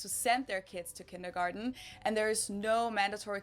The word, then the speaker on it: kindergarten: and that is kindergarten in German we pronounce it kindergarten and it literally means